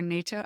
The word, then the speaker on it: natto: One is you gave an example of cultural foods like, is it natto or natto?